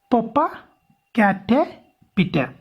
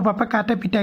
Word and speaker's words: Popocatépetl: So remember the pronunciation. Popocatépetl. Remember that pronunciation. So Popocatépetl is an active volcano in Mexico.